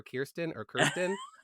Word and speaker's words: Kirsten: And now because Kirsten Rasmussen told me when I first misnamed Kirsten, and she's like, it's like Kier, like rhymes with beer. Now everyone that's named Kristen or Kirsten, I just say Kirsten, rhymes with beer.